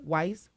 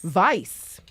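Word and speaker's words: Weis: And Angela Matun, the office manager for Wise Wise Winery. Vice. Vice, proper German pronunciation.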